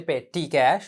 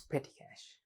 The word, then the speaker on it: petty cash: book petty cash book don't say pay t cash all right that is not the correct pronunciation it's petty cash not petty cash petty